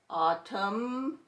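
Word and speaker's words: autumn: crumb then we have MN n is silent and we're going to hear the M column autum and colums then we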